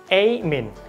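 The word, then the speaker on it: amine: not aubergine okay and number 4 is amin A-M-I-N-E Amin আমরা অবশ্যই এটা বলতে পারি অ্যামাইন বলতে পারি ওকে অ্যামিন বলতে পারি অফ কোর্স ইট হ্যাজ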